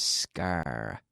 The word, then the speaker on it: scar: a scar SCA RS scar scar now I said us car not I said up because I was using the article uh scar one scar two scars okay have to be careful with the pronunciation there's no vowel sound before the s D media to resign